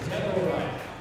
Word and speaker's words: Deborah: That is 3 syllables, Deborah.